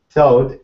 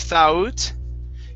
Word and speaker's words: thought: Castle at the time, thought his wife was lying. Okay, very good. Let's go to the word thought. Okay, so instead of thought, okay, it's only an ah there in the middle.